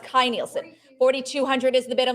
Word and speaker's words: Kay Nielsen: early concept work on Sleeping Beauty by uh Kay Nielsen and we're gonna start the bidding app Kai Nielsen okay okay this is Kai Nielsen so it's pronounced Kai Nielsen 4200 is the bit I'm looking for 44.